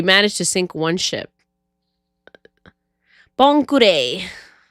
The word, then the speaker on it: Bon Clay: Bonkure. The way that people pronounce it, I always thought it was Bon Clay.